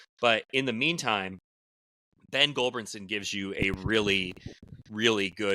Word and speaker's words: Gulbranson: Gulbranson? Yeah. In the pronunciation Gulbranson, guide, Missouri? In the pronunciation guide, it is spelled GULL-BRAN-SON.